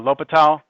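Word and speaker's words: L'Hôpital: lal's rule it's it's it's spelled like hospital but it's uh latal if how many of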